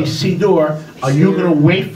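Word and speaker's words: סידור: Beit Ephraim, who can't pronounce the word siddur as a sidur, not siddur, it is a sidur.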